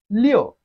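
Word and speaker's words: 六: easy word to know Leo repeat after me Leo it has the following tone of Chinese language which is also a photon Leo you can use the English name Liu to record the sound Leo people answers Leo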